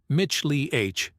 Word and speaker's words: Michelin: If you want to get fancy, pronounce it in the original French, Mich-Li-H.